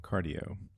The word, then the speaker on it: Qardio: Yeah, I was gonna say I have a blood pressure cuff from Cardio. It's spelled QARDIO, and I got it because I